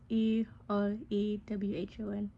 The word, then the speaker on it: Erewhon: So it's kind of hard to pronounce. It's Erewhon, I think that's correct.